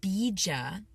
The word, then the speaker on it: bija: I sometimes use a tantric tool, mantra tool called the bija. You guys can all practice saying that at home. Bija, it's spelled B-I-J-A, Bija mantra.